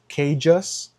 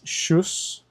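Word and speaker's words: Kjus: Here I got a full zip jacket by the brand Kjas or if you want to pronounce it correctly, it's Shus. I think this brand originated in Switzerland. Um so the pronunciation is Shus.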